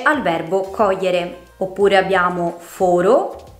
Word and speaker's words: foro: Queste parole sono dunque uguali nella scrittura ma ben diverse nel significato e grazie alla pronuncia differente della loro E o della loro O le possiamo distinguere.